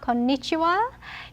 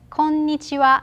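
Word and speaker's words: こんにちは: is konnichiwa konnichiwa konnichiwa it's not konnichiwa it is konnichiwa japanese has more flat no intonation konnichiwa konnichiwa same goes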